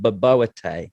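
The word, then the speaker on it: bobotie: She did a South African dish for me, and I want to pronounce this correctly because this is how she taught me, but it was called baboete.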